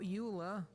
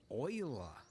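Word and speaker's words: Euler: Uh, we need to add shift a utilities rotation rotate not uler oil. Yes, I know they went with the weird pronunciation. I think it was a Frenchman.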